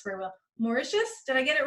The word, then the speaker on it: Mauritius: We are talking today with Schweta Cunningham, an RN who is originally from a place I can't pronounce very well. Mauritius did I get it right?